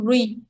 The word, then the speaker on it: three: Khi mình thụt lưỡi vô, mình đặt chữ three, mình đọc là three là nó sẽ thành âm này ha, three.